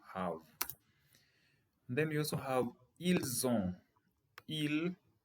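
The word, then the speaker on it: ils ont: then you also have ill-zone ill the s is silent so ill zone but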